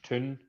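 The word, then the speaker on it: toon: onto themselves you know town is pronounced tun t-o-o-n instead of t-o-w-n um you know you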